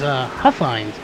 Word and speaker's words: Huffines: And we did get a confirmation, thanks to Dylan there, that it is Huffines is how you pronounce it.